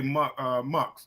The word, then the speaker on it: EVMUX: People call it's called pronounced Max, but it's a lot of people say Mux.